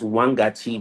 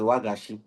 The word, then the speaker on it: Wagashi: Wangachi, well, I had to learn it as Wangachi because I did this documentary in Burkina Faso, not Burkina Faso, northern Benin. So they mention as Wangachi. Honestly, in Ghana, we pronounce it as Wagashi.